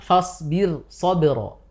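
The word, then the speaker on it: فَاصْبِرْ صَبْرًا: dengan dibaca dengan tipis Yaitu dalam lafaz misalkan fasbir shobro fasbir shobro sab birnya itu yang tipis birnya tipis Kenapa tipis karena itu sudah beda kata fasbir saur ini sudah beda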